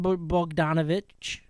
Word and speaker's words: Bogdanovic: Bojan Bogdanovic, right?